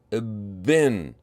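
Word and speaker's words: بٍّ: How do you think the pronunciation will be? Try to figure it out on your own. Bin, bin.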